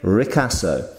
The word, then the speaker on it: ricasso: is known as the ricasso very particular word there obviously Italian ricasso so if this is